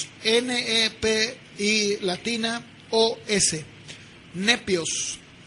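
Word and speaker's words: νήπιος: La palabra niño en el griego o se pronunciaría nepios, N-E-P-I latina O-S, nepios.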